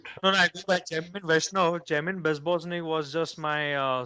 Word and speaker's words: Jaimine Vaishnav: by this moniker Jaimine Bebosnik, or am I pronouncing it? No, no, I go by Jamin Vaishnav.